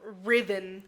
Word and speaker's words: Riven: same way or no it's spelled very differently R uh r i v uh a n just replace the E with an eye like Riven Riven yeah okay um and